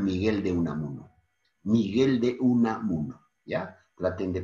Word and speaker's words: Unamuno: Miguel de Unamuno, ¿ya? Traten de pronunciar bien Unamuno para que vayan familiarizándose.